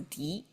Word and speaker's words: 涤: So that's and together it's pronounced as D not sound like maybe a little bit um